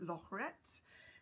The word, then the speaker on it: Lorette: And I think the correct French pronunciation is Lorette. So I think that we're very close. We just don't do that with our R's.